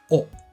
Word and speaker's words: を: here we have the object marker in Japanese o it's written as W but it's pronounced as just o and this marks the direct object in the